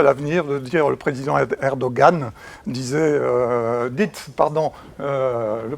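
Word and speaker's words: Erdoğan: est le président erdogan je rappelle qu'on dit erdogan le g le gène se prononcent pas donc c'est un singe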